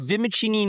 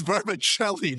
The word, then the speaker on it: vermicelli: Say vimachini noodle uh dried with the word is vermicelli, dude. Not verbachelli.